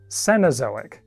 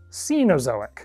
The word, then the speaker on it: Cenozoic: When talking about the present geological era, I habitually say cenosoic, but I am told that is actually more commonly pronounced cenozoic.